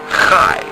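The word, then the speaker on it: חי: Instead of going cha or ach, we say chai. This word is chai.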